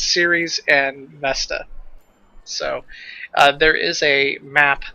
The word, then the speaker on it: Vesta: It's Ceres and Vesta.